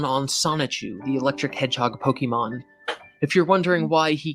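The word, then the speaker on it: Pokémon: doesn't put the accent over it technically it's pronounced Pokemon but since I've never said it that way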